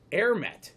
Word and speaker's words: AerMet: so it's a e r m e t air met is spelled a e a-e-r-m-e-t an air mat 100